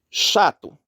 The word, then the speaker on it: chato: temos de tongo crescente chato chato nós temos o dígrafo ch ch faz esse som do X isso é um som é como se fosse o x que é representado foneticamente por esse chá é como se tivesse isso aqui ó chá chá então é o dígrafo